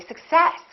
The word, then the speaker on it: success: be difficult to understand so in this case we stress the second part and we say success I wish your success